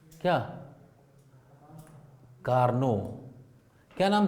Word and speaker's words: Carnot: कार्नोट उससे पढ़ा जाता है, लेकिन एक्चुअली इनका नाम है कार्नो। टी साइलेंट है, लेकिन इंडियनाइजेशन ऑफ इंग्लिश, हाँ, reads is इट एज कार्नोट।